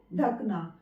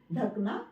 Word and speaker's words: ढकना: इसको ढाक दो तो ढांक कोई वर्ड नहीं होता है सही शब्द जो होता है शुद्ध उच्चारण इसका होता है ढकना इसलिए प्रयोग करेंगे ढकना